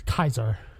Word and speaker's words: Caesar: Yeah, it's Kaiser. If they pronounce it Caesar, yeah.